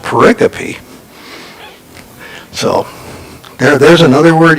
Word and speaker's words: pericope: Orange yeah actually I always thought it was pronounced Perico but it's actually pronounced pericope so there there's another word you learned today